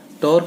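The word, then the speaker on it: τ: एफ पी क्यू, ये umbrella के handle की तरह बना दिया करो बेटा, ये टी नहीं है, टॉ है, टॉ, टी ए यू, टॉ pronounce करते हैं टॉ से, ठीक है।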